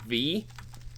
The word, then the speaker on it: Vis: of v you have i pronounced it vees and i think i found out it's technically called v but yeah i'm i